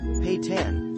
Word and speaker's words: Pitan: Before Ezra's rise to fame, he created a word, Pitan, pronounced Pay-tan, to help him to bond with his fans, encouraging them to use it during everyday life.